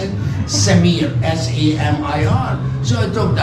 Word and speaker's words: Samir: I said, I'm Sam, because my real name is hard to pronounce it. Samir, S-A-M-I-R.